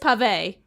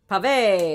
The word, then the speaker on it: Pavé: It is Pavé. Pavé, because he's got an accent.